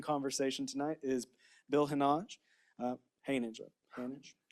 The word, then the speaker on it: Hanage: Hanage. Rhymes with marriage. Hanage. I'm not fancy. Okay. Hanage.